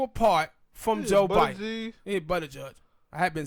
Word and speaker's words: Buttigieg: Yeah, Buttigieg.